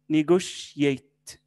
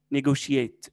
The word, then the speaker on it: negotiate: negotiate. التي هنا بننطقها شيء. negotiate.